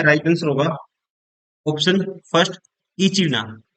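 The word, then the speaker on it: echidna: Answer होगा option first इचीना। क्या बोलते हैं? इचीना। इसको बोलते हैं राइट आंसर होगा ऑप्शन फर्स्ट या इडना भी बोलते हैं इसको।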